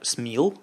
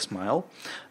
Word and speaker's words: SMIL: они передумали защ смайл смайл - это такая штука которая читается как смил вернее выглядит как смил но читается как смайл акроним это или ещё